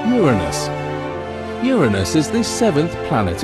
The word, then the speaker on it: Uranus: People tend to make jokes with its name, but it's actually pronounced Uranus.